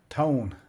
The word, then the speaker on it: Tone: mainly more focus on the automotive industry uh tone as I call it or ton um as some people pronounce it I'm just going to call it